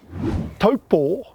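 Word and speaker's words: Taupō: now did you know taupo is actually correctly pronounced as an macron over the last o poor and did you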